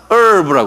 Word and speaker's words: herb: 이거 herb인데 이 영어는 여기 모음이 H 다음에 모음이 오면요, 예? 어떤 거는 H 발음을 안 해요. 그래서 우리가 시간도 hour 그러잖아요. 본래는 hour인데, 그죠? H 발음 안 하잖아요. 똑같이 여기 이걸 herb라고 부르지 않고 herb라고 그래요.